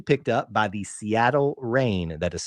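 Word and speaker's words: Reign: she was officially picked up by the Seattle rain that is spelled reig GN not rain as in what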